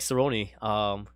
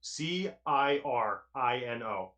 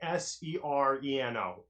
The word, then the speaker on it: Cirino: Cirino. Nobody ever can get it right the first try. They say Sereno every time.